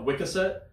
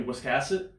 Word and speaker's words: Wiscasset: it you know like we were calling it what Wicket yeah and it's actually Wiscasset yeah and of course